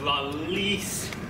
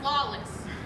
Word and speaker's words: Lawless: allowed in now lawless well least it's pronounced la lis you should know that by now the internet says it's pronounced lawless well the internet's wrong and you're still not